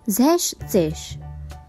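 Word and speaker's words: sechzig: we remove the s from sex therefore the pronunciation becomes zesh once again zeptsish the e n from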